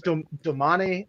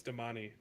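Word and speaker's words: Damane: the same oh wow I thought it was Domani and then like dominate or something you know it's Damani it's an Italian it's in a you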